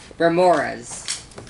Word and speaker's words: Remorhaz: Only if you're going to pronounce Remorhaz correctly. Remorhaz. Pretty good. Remorhaz.